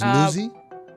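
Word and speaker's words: Nuzzi: Her name's Nuzzy.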